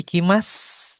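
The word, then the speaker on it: 行きます: Nah, kemudian kalau ada huruf su di akhir dibacanya itu jadi s jadi s aja. Nani-nani des gitu ya. Harimas. Hai Ikimas. Nah, bukan Ikimas gitu ya, kecuali bentuk sopan.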